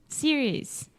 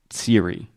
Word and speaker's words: series: First, series, always plural. So we always include the S. We never say Siri. Yeah. Siri is the iPhone thing. And I imagine she is going to start talking to us in just a second. Okay, so we always include the S at the end.